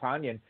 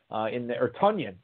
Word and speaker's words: Tonyan: In fact, Robert Tonyan, Tonyan, as we found out in the Green Bay media today, we've been pronouncing his name wrong all these years.